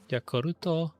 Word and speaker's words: Yakult: Oh, it's just plain like prebiotic Yakult. Actually, Yakuruto. Whatever the Japanese pronunciation is.